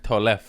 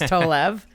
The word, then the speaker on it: Tolev: This is the very hilarious Steph Tolev. That is not how you say my last name. It's Tolev. There's no F's. There's a full V.